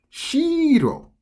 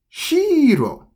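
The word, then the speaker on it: 白: It actually means white for number 1. Shiro. Shiro. I'm overly saying that, but shiro. Shiro. Now, if you were to say it with a low pitch, if you say it like shiro, shiro, this one here, you see where it says castle? It has the same romaji there. Shiro, shiro. But over here, high pitch. So shiro means white.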